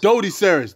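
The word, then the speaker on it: Doedicurus: Try Dodiceras, you asshole. I said Dodiceras. Dodiceras. That's what I'm calling it. Dodiceras. Acorn's mother. Dodiceras. It's not Deo. That's an O, you asshole. Do.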